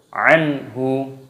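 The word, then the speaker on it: عنه: Cara membacanya dibaca jelas, jangan didengungkan. Anhu, tidak boleh, harus anhu.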